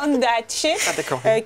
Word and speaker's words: Ondaatje: Alors comment ça se prononce? Michael Grand-Marnier. Michael Ondaatje, qui est un auteur canadien.